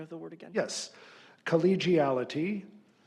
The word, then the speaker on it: collegiality: Collegiality, alternate pronunciation, collegiality.